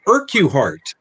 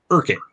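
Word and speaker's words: Urquhart: looking for a uh man named irkuhart which is actually pronounced urkin um and uh he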